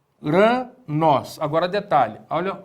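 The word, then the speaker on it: οὐρανός: Uranos. Agora detalhe. Olha o acento agudo aqui no ômicron. Cadê a sílaba tônica? Exatamente aí, o nós.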